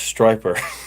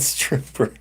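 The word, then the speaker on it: Stryper: Then it is definitely pronounced Striper, not Stripper. All right.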